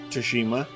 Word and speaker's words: Tsushima: I didn't play Ghosts of Tsushima, that's the right way to pronounce it.